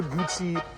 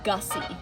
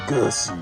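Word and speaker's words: Guzzi: The Moto Gucci. Um, it is pronounced gussy. Oh, that's right. Moto gussy.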